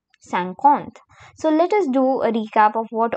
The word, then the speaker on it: cinquante: And it in French is called as cinquante cinquante So, let us do a recap of what all we have learned.